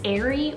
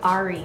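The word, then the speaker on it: Arie: Then next one here is the name Ari or Ari, spelled A-R-I-E. Depending on how you want to pronounce it, it's both Hebrew and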